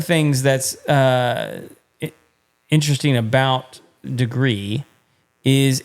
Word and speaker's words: Degrii: about tonight is the degree thermostat is spelled D e g r i I I right but it's degree and one of the